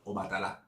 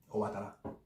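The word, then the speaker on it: Obatalá: like fast and nonchalant, maybe your lips don't close completely to say the ba in Obatala. So you say Obatala. And it's still, that's just how it sounds. It's spelled and spoken Obatala. But if you say, oh, Obatala was walking down the street, Obatala, Obatala. My lips aren't closed and say Obatala. I'm technically saying Obatala.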